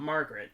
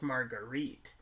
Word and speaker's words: Marguerite: small town usa so it's not margaret it's marguerite margarita no no no no